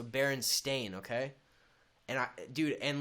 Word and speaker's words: Berenstain: that so vividly but apparently it's always been spelled with an A so s-t-a-i-n so Baron stain okay and I dude